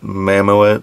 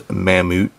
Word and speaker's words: Mammoet: mamut version um it's kind of hard to pronounce some people call it mamamo but as far as I know the actual pronunciation is mamut um this is an excellent excellent excellent model